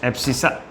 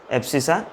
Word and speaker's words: abscissa: उसको हम बोलते हैं एब्सिसा। अब इसका प्रोनाउंसिएशन आप अलग कर सकते हैं, मैं ऐसा करता हूँ, ठीक है ना। ठीक है, एक्स एक्सिस के ऊपर जो पॉइंट्स हैं उसको हम कहते हैं एब्सिसा, ABSCISSA, ठीक है स्पेलिंग।